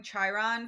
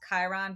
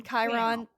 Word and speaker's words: Chiron: this that everybody the person we've been calling Chiron for the past uh now book and into this uh we learned from our friend Brian that it's actually pronounced Chiron because he's more familiar with Greek mythology and Greek things than us.